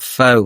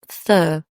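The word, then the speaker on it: phở: vegetables and all that is actually pronounced fur a bit like a fur coat.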